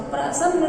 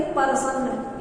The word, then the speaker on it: प्रसन्न: उसने रामू से कहा, प्रसन्न नहीं प्रसन्न, यही उच्चारण है उसका।